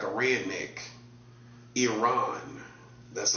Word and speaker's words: Iran: You got You got the war surrounding Iran. That's how you pronounce it. Not Iran like a redneck. Iran. That's how you pronounce it. Not Iran.